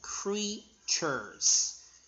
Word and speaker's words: creatures: E-A together sound E. So E. Creatures.